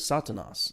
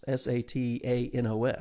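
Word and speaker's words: Σατανᾶς: Satan, just for instance, and the Greek word is actually, the way you'd pronounce it is Satanas, Satanos.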